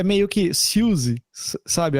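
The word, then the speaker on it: Siouxsie: Só que acho que é meio que Suzy, sabe? A pronúncia é meio que quase que Suzy, sabe? Eu vi uma entrevista dela e ela fala, hi, this is Suzy. Ela fala Suzy, uma coisa assim.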